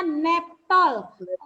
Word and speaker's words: Naphtol: cache sebut pewarna naphtol tulisannya napo3 chord2 bacanya netol pernah untuk membatik disebut netol selanjutnya itu apa ada tulisannya